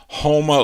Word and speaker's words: Houma: typed that in yeah houma louisiana i said huma because it's spelled h-o-u but you see just because it looks like that doesn't mean that's how it sounded that's how it is